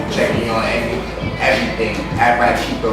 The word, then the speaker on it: Ratchitho: At Rat Cheeto, that's RATCHITHO. If you don't put the H in there, you ain't saying it right.